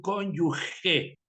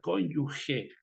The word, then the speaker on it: cónyuge: noción como abogados verdad primero la pronunciación cónyuge porque no lleva u entonces suena fuerte como si hubiera una jota verad cónyuge significa para determinados estados